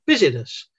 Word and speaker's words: business: right i always had i always wondered what the i is for you don't pronounce that letter business so if you keep